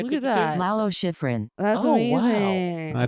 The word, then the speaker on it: Lalo Schifrin: Okay, it's Lalo Schrift.